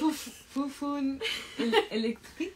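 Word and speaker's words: Foufounes Électriques: Busted out, how would you pronounce it? No. Like, Fufun Electric. You got it!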